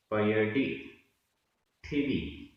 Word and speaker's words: पयडिठिदी: पयडी पयडी, ठिदी ठिदी, आधा ट ठ, ठिदी। दोनों को एक साथ बोलेंगे तो सही उच्चारण आएगा।